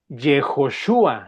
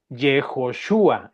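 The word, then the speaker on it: יהושע: El nombre del libro es Josué, que se pronuncia en el idioma de los hebreos, Jejoshua. Jejoshua.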